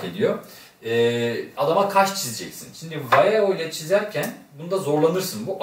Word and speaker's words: Vallejo: Bunlar İspanyol olduğu için Vallejo diye okunur. Vallejo diye yazılır. Vallejo diye okunur. Çünkü niye? İspanyol malı.